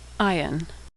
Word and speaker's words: Ayin: Ayin is silent like the letter Aleph. Ayin.